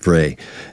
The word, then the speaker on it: Bray: And to go back to Albert Bray, and I called him Breach last time. Sorry, Albert, but if you're watching this, I pronounced your name wrong last time. But it's Albert Bray.